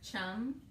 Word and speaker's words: chum: So you have your chum salmon, which rhymes with thumb.